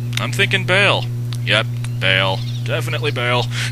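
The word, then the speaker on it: Baal: l it's awesome that's not b no it's Bale okay pronounced Bale I disagree with their pronunciation of misto like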